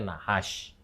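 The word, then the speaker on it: נחש: Tentu saja ingat tidak ada huruf vokal di sana karena ini Ibrani, tapi bacanya nahash.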